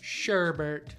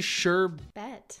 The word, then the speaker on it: sherbet: Sherbert. I say sherbert too. Wait, is it really sherbet? There's no extra R in there?